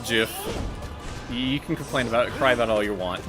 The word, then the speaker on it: GIF: Uh, it's it's GIF. You can complain about cry about all you want. Uh, I say it like peanut butter cuz I like peanut butter.